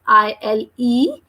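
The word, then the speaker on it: île: An island is pronounced or we spell out like ILE. So we are reading it like il, because the sound of letter I is E.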